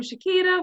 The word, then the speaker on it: Shakita: hope I don't but your name Shakita please hop on and tell me if am pronouncing that wrong yes that's correct okay good so welcome shaita welcome Jonathan we are